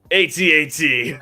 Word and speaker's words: AT-AT: start off the episode do you pronounce it atat or at at I always prefer to call it AT-AT to me because it's a lot easier for me and I have said